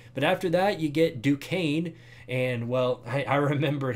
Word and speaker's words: Duquesne: that week one but after that you get Duquesne and well I remembered how to pronounce that thankfully but yeah Duquesne after uh the Penn State game a good